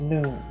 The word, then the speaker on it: Noone: spiritual science, which is Noone. Noone is the spiritual heritage of Ethiopians in general, and it helps all oppressed peoples. Noone is pronounced Noon.